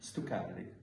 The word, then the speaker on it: stuccati: Stuccati, exactly, yeah.